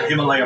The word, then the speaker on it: Himalaya: Way I figure it, we're somewhere in the Himalayas Mountains. That's pronounced Himalaya. Himalayas?